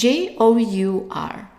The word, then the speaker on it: jour: The second part is J-O-U-R. So the O-U here is pronounced as a long oo.